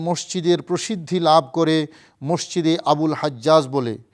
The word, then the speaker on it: আবুল হাজ্জাজ: প্রসিদ্ধি লাভ করে মসজিদে আবুল হাজ্জাজ বলে। মিশরীয়রা আরবী জিম অক্ষরকে কথ্য ভাষায় গ উচ্চারণ করে। তাই এই মসজিদ সম্পর্কে তাদেরকে জিজ্ঞেস করা হলে তারা বলে মসজিদে আবুল হাক্কা।